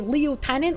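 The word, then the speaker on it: lieutenant: Get deaded, In English, a leu is a toilet. So if you called them a leotenant like Americans do, you'd be calling them a toilet attendant.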